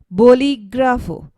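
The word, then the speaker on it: bolígrafo: means synonym and then volley gravo boli grafo the stress is placed on the eye which has accent mark here which means pen and then weak thima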